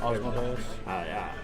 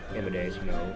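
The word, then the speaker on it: Asmodeus: Osmodeus. Amadeus, just like the song. That's how I pronounce it.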